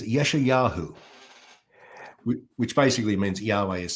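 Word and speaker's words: ישעיהו: In Hebrew, he is Yeshayahu, which basically means Yahweh is salvation.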